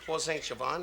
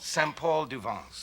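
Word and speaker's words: Saint-Paul-de-Vence: to paul st siobhan is that how you say it no no it's called saint paul duvenz oh what did you say i said paul saying javon and you're saying siobhan would be the wrong town of course so you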